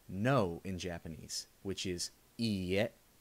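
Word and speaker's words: いいえ: The next word we're going to look at is how to say no in Japanese, which is iie. It's spelled i-i-e.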